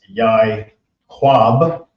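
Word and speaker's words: יעקב: It's actually pronounced yai quab.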